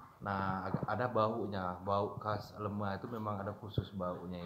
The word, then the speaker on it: lemea: Nanti kalau dia sudah berubah warna sedikit agak putih, nah ada baunya, bau khas lemah itu memang ada khusus baunya itu. Nah, ya sudah itu.